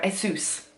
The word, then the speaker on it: Asus: final thoughts on the Asus Zenbook sorry ESU's I've been saying it wrong the whole time but